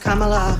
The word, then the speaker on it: Kamala: It's pronounced Kamala. It rhymes with Kamala.